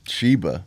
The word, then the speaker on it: Chiba: token hmm chiba inu shiba chiba so that's shiba but uh spelled with a c chiba inu mega bitcoin oh